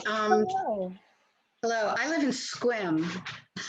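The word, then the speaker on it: Sequim: hello i live in squim just to tell you how it's pronounced squim like swim it's on the olympic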